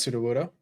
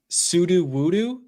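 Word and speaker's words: Sudowoodo: How do you pronounce pseudo-woodo, by the way? I'm putting you on blast. Pseudo-woodo. Okay, I heard someone call it pseudo-woodoo, and I think I wanted to, like, I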